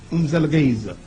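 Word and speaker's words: Mzilikazi: You have to say it fast or you will say it wrong. Umzelgeza.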